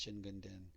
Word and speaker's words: Jingunden: see the kanji for jin gundin and then you'll also see how that could be pronounced shin gun din and then i've also